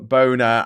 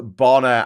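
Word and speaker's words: Bona Drag: I was at Bre HMV getting boner drag by Morrisy for my sister and I said it wrong. Boner and someone corrected me. It's Bonner. Actually, it was Boy George.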